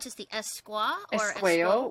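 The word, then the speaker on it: Esquao: Esqueo, which is the Cree word for woman.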